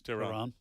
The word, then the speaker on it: Tehran: said when they flew from Frankfurt, Germany to Tehran, is that how you pronounce it? Yes, Tehran.